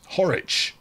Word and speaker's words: Horwich: Horwich. Rhymes with Norwich.